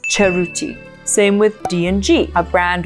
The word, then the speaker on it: Cerruti: So remember, it's not Cerruti, it's Cerruti.